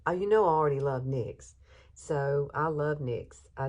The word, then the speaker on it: NYX: And, you know, I used to call it NYX, and somebody corrected me and said it's NYX.